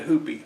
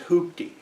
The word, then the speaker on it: hoopty: hoopy therapy you know my dad called it a hoopie i know the proper pronunciation is hoopty but he called it a hoopian that's what we call